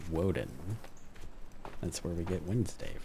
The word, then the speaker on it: Woden: the original form of Odin, which was called pronounced Woden that's where we get Wednesday from for anybody